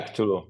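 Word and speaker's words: Cthulhu: the call of Tulu is it pronounced Tulu yeah Tulu yeah tul the four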